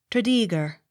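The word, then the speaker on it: Tredegar: that name not otherwise t r e d e g a r trader accent on second syllable t r e m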